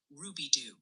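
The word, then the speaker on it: Rubidoux: Besides keeping a close watch on the active armo warnings, they're also chiming in that Rubidoo, Missouri is pronounced more like Ruby.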